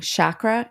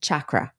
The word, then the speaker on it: chakra: And so I always go between saying chakra and chakra. Which one is it? I say chakra. Chakra. But I hear other people, because it's spelled with a CH. Yes. And I hear other people say your chakras. Yes. So we don't care. We can say it either way.